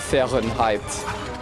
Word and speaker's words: Fahrenheit: Fahrenheit. I guess that is how you pronounce it, huh? Because don't the AH make like an eh? I'm dead. And I mean, if we're, you know, the Americans wouldn't say Fahrenheit if it was Fahrenheit.